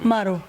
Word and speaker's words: MARO: it from mario but ah how do you pronounce it uh my name maru it's a mimaro it's exactly y'all need to